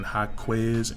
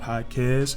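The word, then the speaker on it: Jaquez: predicated to him and I kept saying H quz instead of highz and you guys were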